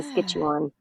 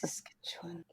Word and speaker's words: Kisiskâciwan: so in Nahau and Cree, K's are pronounced like G's, so it's Oh, Kisiskâciwan, which is kind of Gis, like Saskatchewan. yeah, Kisiskâciwan. Yeah. Kisiskâciwan.